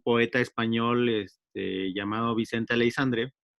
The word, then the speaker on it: Aleixandre: éstas está ignacio y esta alexandre como se pronuncia su nombre aleixandre aleixandre aleixandre y the ones tu nombre pues